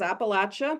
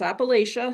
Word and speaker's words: Appalachia: And here in the south we refer to it as Appalachia but up north it's Appalachia. So I'll call it Appalachia but I'm uh respecting that there are different pronunciations as well.